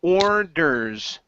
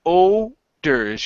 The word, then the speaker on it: orders: the king okay so watch that o r at the beginning you're saying oers you're not pronouncing the R so it's or or